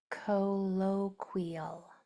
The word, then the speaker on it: colloquial: Then we have colloquial. Colloqual. This syllable is accented. So it's said stronger or with more emphasis.